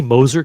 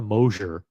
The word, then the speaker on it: Moser: By the way, is it Moser or Mosier? I feel like it's better to pronounce it Mosier, but maybe not. Maybe it's Moser. Moser sounds dumb. Sounds cheap. Moser. By the way, Moser rhymes with poser.